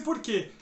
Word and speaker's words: por quê: Agora, se você joga esse porquê lá no final da pergunta, repare na pronúncia. Você gastou o limite do cartão por quê? Esse que é pronunciado com mais força. Desta forma, ele deixa de ser um monossílabo átono e torna-se um monossílabo tônico.